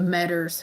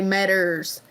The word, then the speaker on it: Meadows: in the Jeffersonville area, the Meaders, as they said their last name. It's spelled Meadows, but they're from Harlan, Kentucky, so they say Meaders.